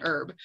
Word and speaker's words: herb: talk about is our herbs right what is an herb and that is correct grammar it is unherb because the h is silent it's not herb it's